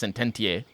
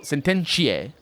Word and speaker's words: sententiae: No, this would be ecclesiastical Latin, so it's sententiae. No, sententiae. That's how it is.